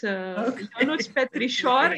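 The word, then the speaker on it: Ionuț Petrișor: Your pronunciation was perfect. It's Ionut Petrisor. It's also is an H, but I didn't put the cedil, so it's my fault.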